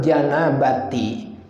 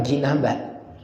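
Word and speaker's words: جنابة: Rof'al janabati menghilangkan adas janabah. Janabat apa? Jinabat. Bapak-bapak bacanya jinabat apa janabat? Jinabat ya. Boleh. Boleh jinabat. Boleh janabat. Janabat.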